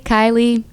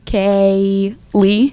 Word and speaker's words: Keily: I mean, phonetically, Kaylee. You've only had it your whole life. Yeah, so- yeah. Well, people still in the office say Keely or Kylie.